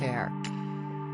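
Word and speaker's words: Aire: boy's name from Wolf to Air, pronounced Air.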